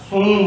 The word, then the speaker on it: शुंग: उस राजवंश का नाम था शुंग वंश, शुंग डायनेस्टी। लास्ट में आपको क्या लेना? ए लेना है, बट प्रोनाउंसिएशन में हम क्या बोलेंगे? शुंग डायनेस्टी। वैसे इंग्लिश में शुंगा डायनेस्टी।